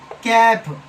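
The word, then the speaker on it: calf: कैप कैप तो एल से पहले ए आ गया है और एल के बाद एफ आया है इसलिए एल साइलेंट है।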